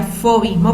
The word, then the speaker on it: fauvismo: fomín mont se escribe found mismo pero se pronuncia fauvismo porque viene del francés viene del francés paul